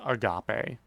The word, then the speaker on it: agape: her mouth a gate it's pronounced Agape thank you very much